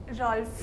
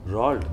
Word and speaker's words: Roald: Rolf. Roald, Dahl. Roald, not fur.